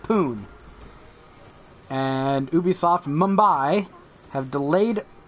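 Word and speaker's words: Pune: ubisoft and developers ubisoft poon p-u-n-e don't judge me my brain pronounces that poon and ubisoft mumbai have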